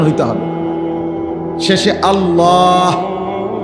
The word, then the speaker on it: আল্লাহ: পারবে এজন্য এটা খেয়াল করে হা পুরা স্পষ্ট বিশুদ্ধ উচ্চারণ হইতে হবে শেষে আল্লাহ শেষে একটা গোল হা আছে ছোট হা আল্লাহ মানে আল্লাহু তো